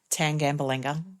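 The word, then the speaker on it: Tangambalanga: So tan like a suntan, gamble like the pokés. anger. What I'd be if my husband took up gambling tan gamble anger.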